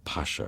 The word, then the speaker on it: Pasha: is always known by the Ottoman honorific Pasha or they pronounce it Basha as if it's got